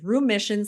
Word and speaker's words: Rheumission: not not it's um it's Room Mission spelled like room like Rheumatology um r h u